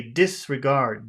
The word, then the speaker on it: disregard: two it has two it has two accents it could be dis or it could be guard which one is normally people would say disregard this would be the biggest syllable but guard is also a big syllable which one do you think is better in our situation to emphasize dis or guard this dis a dis